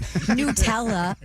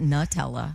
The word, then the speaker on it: Nutella: It's Nutella, not Nutella.